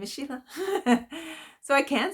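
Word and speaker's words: Síle: to think that that is Sheila and that's pronounced Sheila the one with the H on the end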